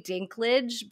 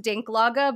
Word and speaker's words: Dinklage: at some point I'm gonna slip and say Dinklage because it's pronounced dinklaga but it's definitely spelled like dinklers and I